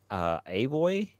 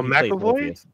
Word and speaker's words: McAvoy: Yeah, James Avoy. Is that how you pronounce the name? Oh, McAvoy.